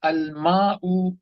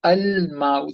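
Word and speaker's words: الماء: This time I'm pronouncing a sound. Why? Because this is hamzatul wasl once again. But there's nothing coming before that, hence I'm able to pronounce that. If there was something before that, the hamzatul wasl will become silent by default. But right now, we will pronounce it.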